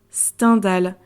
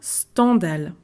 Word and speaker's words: Stendhal: entendu mes professeurs dire standal alors que Henry Bale et bien il avait choisi de prononcer son pseudo comme standale pour quelle raison et bien c'est pour rappeler le mot scandale parce que notre ami